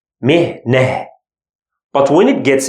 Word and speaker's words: مهنة: مهنة, here it's consonant. That's why we pronounce it he. مهنة.